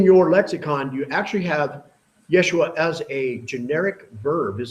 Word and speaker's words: Yeshua: All right, now this is the name Yeshua. It has an open syllable at the end.